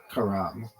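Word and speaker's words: Carrom: Emphasis on the first syllable.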